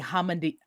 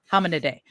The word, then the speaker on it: Hominidae: Orangutans are primates, yes, but they are not in the family Hominidae. Did I pronounce it right? Hominidae.